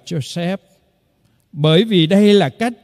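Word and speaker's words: יוסף: bà anh chi em trong tiếng Việt của chúng ta gọi là Giuse nhưng theo nguyên ngữ của tiếng Do Thái phải đọc là josep bởi vì đây là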